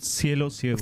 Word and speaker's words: Cielo Ciego: It's a track called Cielo Ciego. Am I pronouncing that properly? Cielo Ciego. Thank you. Perfect.